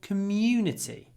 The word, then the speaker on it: community: community community community but to make it sound much more British commun what do we need we need a lot of w w and at the end a bit of Y as well that's too much commity community in Russian you get more vowel sound commun community community community